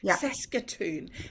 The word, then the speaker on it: Saskatoon: from did I say you did yep sason Saskatoon did I say it correctly yes you did